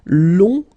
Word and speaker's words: long: and then okay so long remember you don't pronounce the final J will become long okay so fanatically it's